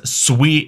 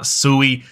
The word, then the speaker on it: Sui: is sweet and first off what's how's it pronounced it is sweet it is not soie I've been corrected multiple times so if you